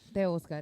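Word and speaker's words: Teoscar: The Oscar is how you say it.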